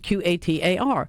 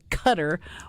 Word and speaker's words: Qatar: what's proper pronunciation of Q A T A R. And the chic basically said, well, it's it's Qatar is the main pronunciation, but it's perfectly okay to say cutter or gutter.